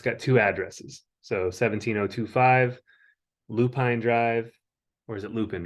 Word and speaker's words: Lupine: That's lupin like the flower. Lupin Yeah. like the flower. Okay. Lupin. I thought it was like Alpine is not Alpin, but yeah, Lupin.